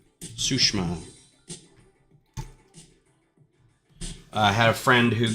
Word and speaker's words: Tsushima: I did realize that there's certain ways to phrase, it's not Ghost of Tsushima, it's Ghost of Tsushima. You don't say the long I in that. It's almost missing from that.